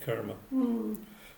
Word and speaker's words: karma: do tend to say kerma usually camera you know that's that's the an indian couple that i saw at the at the weekend said that it's it's kermit you pronounce it karma so you know but